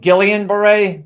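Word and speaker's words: Guillain-Barré: Uh the Gillon Beret is probably one of the most remarkable things uh about the story. Yeah. Gueon Beret also pronounced like Gileian Beret, but it's a French pronunciation.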